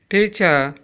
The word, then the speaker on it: teacher: Serial number 21, teacher, R is silent.